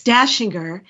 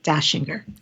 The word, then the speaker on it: Dachinger: Yeah, it's Dashinger. It has it's d a c because it's Austrian. So when in Germanic countries you definitely pronounce it differently, but here in the USA etc. we say Dashinger.